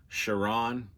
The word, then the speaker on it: Charon: Like, for instance, the name is actually Charon, I believe that's how you say it, but years later they